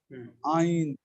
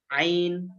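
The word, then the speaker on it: عين: হা হ্যাঁ হা দম আইন হ্যাঁ আইন আইনটা একটু বলেন না ভাইয়া আইন আইন আইন গলার ভিতর থেকে আইন আইন আইন আইন আইন আরেকটা কফ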